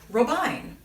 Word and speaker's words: Robijn: for games today i am speaking with robine did i say it right yes she